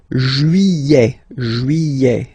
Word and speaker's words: juillet: Juillet. Don't pronounce this final T, E-T here at the end.